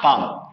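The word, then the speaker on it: palm: इसको, क्या बोलते हैं पाम, स्पेलिंग लिखना पड़ेगा पाम, एल साइलेंट है, एल पर ना ही नहीं है हथेली।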